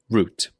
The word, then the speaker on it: route: Route, route. I pronounce this one route.